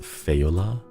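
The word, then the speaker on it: Faoladh: It's pronounced Feola.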